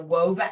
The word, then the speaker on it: Whova: And like, so then everything happens through this app called the WOVA app, which was an app that was developed during COVID when everyone took their events online. It's spelled WHOVA.